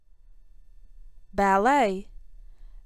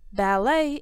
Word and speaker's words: ballet: net ballet ballet is a classical type of dance it can be danced Solo in pairs or in groups the T in ballet is silent ballroom dance is danced